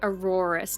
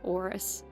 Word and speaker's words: Aurorus: Uh but the full art orus sorry aurorus not orus full art aurorus I